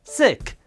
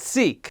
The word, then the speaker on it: Sikh: Well, if you don't know, I am a Sikh and it's pronounced Sikh, not Sikh.